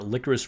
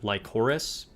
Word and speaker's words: Lycoris: Obviously, I'd never even heard of it before, but I thought it was like Lycoris. It's licorice, or at least that's how they pronounce it in the show, which apparently is a type of flower.